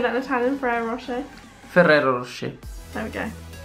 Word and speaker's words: Ferrero Rocher: How do you say that in Italian, Ferrero Rocher?